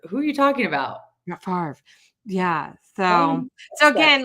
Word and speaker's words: Favre: And I'm like, how is it Favre if the R comes after the V?